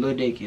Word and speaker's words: Lil Dicky: You gotta say his name, Lil Dicky, like I said.